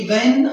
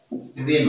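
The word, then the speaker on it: when: पहला सेंटेंस कह रहा है कि व्हेन आई, इसका जो सेम उच्चारण होता है वो कुछ जगह तो ऐसे लिखा होता है बट ये गलत होता है, इसका उच्चारण हमेशा वेन होता है।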